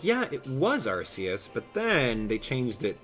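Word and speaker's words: Arceus: protective of pronunciations like like archus for example uh you know people I got into a heated argument with a little kid he's like hey abdalah it's arus I'm like yeah it was arus but then they changed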